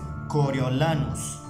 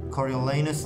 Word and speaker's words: Coriolanus: i would like and i choose to pronounce it like this which is coriolanus and even if you want to make it more english-like i would pronounce it something like coriolanus coriolanos i pronounce it for you again coriolanus coriolanus no coriolenus no i'm not a big fan of that i guess i'm going